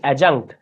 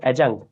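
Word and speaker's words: adjunct: পার্টেটিভ, বা এটাকে আমরা বলে থাকি অ্যাজাঙ্ক্ট। এখানে ডি এর উচ্চারণ হয় না, ঠিক আছে, অ্যাজাঙ্ক্ট।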